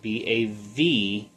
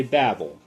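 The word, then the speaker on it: בבל: And just so you have an idea, it is spelled in here Bavel. I know we say Babel, but Bavel is how it's pronounced for this.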